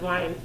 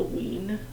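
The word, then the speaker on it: Wein: name um the last the author's last last name is w-e-i-n which i guess could be a ween but wine i think is probably how it is pronounced regardless codename verity is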